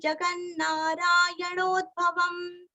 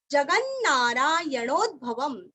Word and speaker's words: जगन्नारायणोद्भवम्: जगन्नारायणोद्भवम जग ग के ऊपर आघात दो न का उच्चारण अच्छे से करना है। जगन्नारायणो नो के ऊपर आघात भवम यहाँ पे आधा द जगन्नारायणोद्भवम जगन्नारायणोद्भवम लास्ट में आधा म।